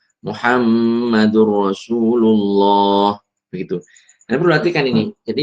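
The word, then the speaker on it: مُحَمَّدٌ رَسُولُ اللَّهِ: Cara membacanya dileburkan nun sukun ke huruf lam atau ro setelahnya tanpa disertai dengung. Laat liman. La ibrotan liman. Laat liman malam. Muhammadur Rasulullah. Muhammadur Rasulullah.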